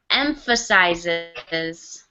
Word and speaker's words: emphasizes: So just make sure you get that S sound in there.